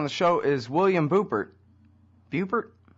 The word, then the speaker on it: Buppert: Buppert? Buppert.